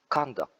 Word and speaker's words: conduct: at the first therapy conduct but when you say as a verb the stress is placed also at the second syllable so it will say like conduct okay that's the difference